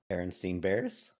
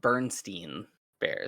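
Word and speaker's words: Berenstain Bears: it right um wait how do you say it Devin Berenstein Bears all right what's the wrong way to say it yeah my my wife says it Bernstein Bears Bernstein Bernstein Bears yeah nope it's Berenstein Bears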